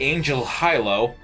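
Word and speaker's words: Angel Halo: Like the villain's primary plot in Victory Gundam was that we're going to use the Angel Hilo, as they pronounce it in Japanese.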